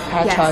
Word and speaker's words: Patchogue: We are currently at Patchogue. Did I pronounce it right? Patchogue, yes.